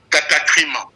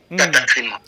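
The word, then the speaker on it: κατάκριμα: rapport à cette notion de condamnation, ça s'appelle katakrima. Katakrima. Katakrima. C'est ça. Katakrima. Oui, katakrima.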